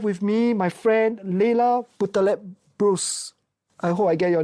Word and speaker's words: Boutaleb-Brousse: Welcome listeners to another Wholehearted podcast episode and today I have with me my friend Leila Putalp Bruce. I hope I get your name pronounced correctly.